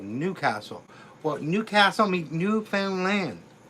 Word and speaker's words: Newfoundland: But most people used to pronouncing like Finland. So, they say, "New Finland, are you from New Finland?" No, Newfound Land. Newfound Land.